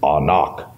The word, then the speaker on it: Anak: Giants the sons of actually the Hebrew pronunciation is anak so they're sons of